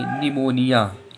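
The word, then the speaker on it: pneumonia: तो जब भी देखो यन के पहले पी आ गया तो हम लोगों को पी साइलेंट है, इसे क्या पढ़ेंगे? निमोनिया।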